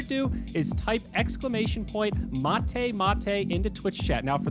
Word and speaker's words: Mate Mate: is type exclamation point mate mate into twitch chat now for the layman's out there that's m-a-t-e-m-a-t-e spelled like mate pronounced like mate each winner gets two